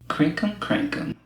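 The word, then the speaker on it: crinkum-crankum: crank crink crank do it one more time crinkum crankum so that's an actual word crinkum crinkum crinkum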